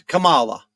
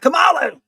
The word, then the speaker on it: Kamala: It's not going to be Kamala to me. It's Kamala. It's not Kamala. It's not Kamala. It's Kamala. Kamala. Kamala.